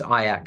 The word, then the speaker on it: IACC: U the association is fondly known as aak the only word that rhymes with kayak I've been told so